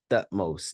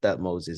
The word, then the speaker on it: Thutmose: Thutmose, not Thutmoses.